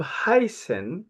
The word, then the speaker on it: heißen: So the verb heißen, remember, we talked about this letter. We said we read it S in German language. It looked like capital B, but it's not capital B.